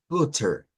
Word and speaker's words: butter: esto cuidadito con esto esta palabra tiene varias pronunciaciones eh Por ejemplo en inglés neutro verdad eh podríamos pronunciarlo como butter bien pero si nos vamos a un inglés estadounidense los estadounidenses tienen una Sur reggla que se conoce como la t en medio de vocales como en este caso hay dos